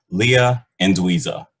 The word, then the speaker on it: Leah Anduiza: clay Chef Leia I always mess this up Leah and dza is that correct that's right thank you all right awesome sorry I butchered it again no problem Anda okay so